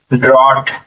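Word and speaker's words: drought: पर डी आर ओ यू जी एच टी ड्रॉट ब्रॉट अब यहां पर बी हटा कर के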